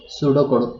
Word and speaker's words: pseudocode: Okay, pseudocode. P is silent.